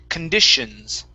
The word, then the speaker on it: conditions: word uh conditions now remember the the t o n that is going to be be a sh sound instead of conditions okay with an S okay pronounce an sh it's an sh sound conditions conditions okay all right